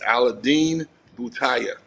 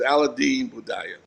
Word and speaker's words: Aladine Bhutaya: I I I I I took my time how to pronounce his name. His name is Aladine Bhutaya. To all you guys AB. It's a tough. It's a tongue. It's a tongue twist, but it's it's Allen Baya.